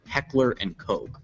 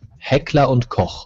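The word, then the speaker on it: Heckler & Koch: the name of this legendary German arms manufacturer Heckler and Coke it's actually pronounced hea and K he call this Russian designed pistol a marov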